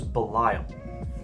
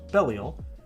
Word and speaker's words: Belial: I always thought it was Belial, but I listened to an audio drama a few weeks ago and it's pronounced Belial, so mind blown.